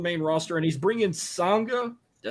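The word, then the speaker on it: Sanga: So Jinder Mahal's back on the main roster, and he's bringing Sangha. Did I say his name right? Mm-hmm. Sangha, and then Veer.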